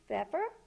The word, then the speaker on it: Pfeffer: can always email and her last name is pronounced feffer Feer so it is